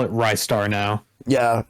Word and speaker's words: Ristar: I could never pronounce it right, but it turns out it's actually Rice Star. Like, I thought it was either Ristar, Restar, or Rice Star. It's Rice Star.